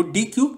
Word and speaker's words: deque: आज जो हम पढ़ेंगे वो डी क्यू के बारे में पढ़ेंगे। डी क्यू आपका क्या है, जिसको आप प्रोनाउंस कर सकते हो डेक।